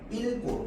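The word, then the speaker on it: 읽고: 그런데 기억으로 시작하는 어미 앞에서 달라지는 거야. 얘는 어떻게 발음한다고? 일고로 발음한다고.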